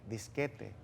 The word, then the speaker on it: disquete: Por ejemplo, cuando antes se utilizaba, salió el disquete, era disquete, pero gracias a la academia aprendimos que la norma del español pronuncia T, disquete.